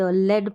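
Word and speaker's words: lead: है लेकिन जो शीसा जो धातु होती है ना उसके लिए हम ल एड लेड बोलेंगे उसको लेड बोलेंगे लीड का मतलब होता है नेतृत्व करना वो अलग चीज है यहां पर जो है लेड इसका उच्चारण है लेड का मतलब जो धातु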